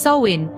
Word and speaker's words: Samhain: northern France they celebrated a festival named samhan pronounced as soin which marked the end of the harvest season